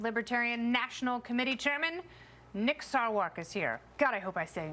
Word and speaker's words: Sarwark: Mike Baker is here, joined by comedian and writer extraordinaire Jimmy Fela in the house, and Libertarian National Committee Chairman Nick Sarwark is here.